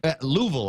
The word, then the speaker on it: Louisville: Louisville, I think. Yeah. You got to say it like that. Louisville. It's not Louisville. Yeah. It's Louisville, right?